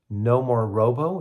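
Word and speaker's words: Nomorobo: Uh no More Robo. It's spelled N O M O R O B O.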